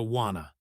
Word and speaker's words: wanna: What do you wanna?